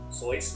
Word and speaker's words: sois: Do you pronounce the S? Group. Sois is there. Sois, yes. Same.